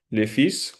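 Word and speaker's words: le fils: Lefis. Como ya había dicho, se pronuncia la s lefis, el hijo, lefis, la fi, la hija.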